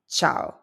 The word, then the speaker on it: ciao: The first word is ciao. Ciao. And you already know this one. Notice the C before the I. That's a rule, one that we learned before.